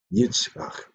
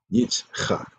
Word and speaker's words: Yitzchak: When you see his name spelled in the Hebrew, you'll see how it's spelled. Is a chet in his name, Yitzchak. But we pronounce it in English as Isaac.